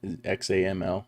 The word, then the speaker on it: XAML: so with these xaml files that's how you pronounce that xaml example don't remember what that stands for it